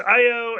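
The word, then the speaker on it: Ayo: from six years ago with uh io i think is how you say her name i mistakenly last last week i said it was nikia i'm sorry that was my bad but it was it's io and the white wolf and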